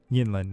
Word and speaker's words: Yinlin: And so I'm hoping that who's the, how do you pronounce the next girl that'll be coming out? Next girl, Yinlin? Yeah. Yinlin.